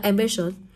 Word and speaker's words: ambitious: rơi vào âm nào cô có đọc là ambitious nhá ambitious vậy rơi vào chước âm đó nó sẽ rơi vào âm tiết thứ hai của từ rồi ý C tương tự